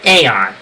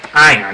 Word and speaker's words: Aeon: on their hit list, named Aeon, or Ion, depending on how you want to pronounce it.